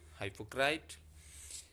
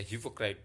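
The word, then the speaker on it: hypocrite: पाखंडी, हाइपोक्राइट या हिपोक्राइट, दोनों तरीके से प्रोनाउंस किया जा सकता है।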